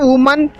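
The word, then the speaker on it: women: यहाँ लास्ट में आपको दिख रहा है वुमन, उसको हम लोग पुलल फॉर्म में वीमेन पढ़ते हैं, वीमेन प्रोनाउंसिएशन करते हैं, तो आप याद रखेंगे।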